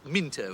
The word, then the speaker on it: Mousepaddler: It's written Mousepaddler, but it's pronounced Minto. It's an English thing.